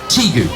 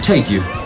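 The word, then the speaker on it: tegu: is the argentinian teague and that's how you pronounce it teague t-e-g-u t-gu if you're american you pronounce it take you could you be incorrect the term is teague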